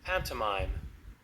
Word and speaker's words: pantomime: Okay, and this is how it's pronounced. Pantomime.